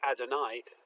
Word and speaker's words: Adonai: as the Eternal um we nonetheless pronounce God's name that name as Adonai out of tradition for the last 2,000 years but it's interesting that